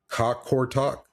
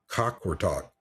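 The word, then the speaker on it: Qaqortoq: And then we went to Greenland, this place called um Cockort Talk. Cockort Talk.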